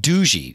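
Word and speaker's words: Doogee: the phones from a company called do G or I think that's how we're supposed to pronounce it do oh gee EE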